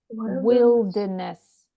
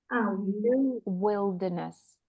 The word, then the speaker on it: wilderness: We say wild, but how do we pronounce this one? Wilderness. Wilderness. Or wildernesses here. So slightly different from wild.